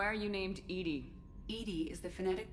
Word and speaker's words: EDI: is a jar why are you named Edie Edie is the phonetic pronunciation of e that is an acronym for